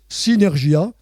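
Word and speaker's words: συνεργία: Paul montre aux Philippiens que toutes leur peurs disparaiss disparaîtront s'ils comprennent et pratique la synergie spirituelle qui dans son sens originel qui se prononce synergia comporte.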